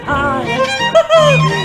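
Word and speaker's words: Highett: for it's so beautifully quiet in Hyatt. It's so beautifully cozy and clean. The folk who live there never gossip or stare. They're too busy watching a screen. There's no place in Australia to buy it. It's spelled Highet.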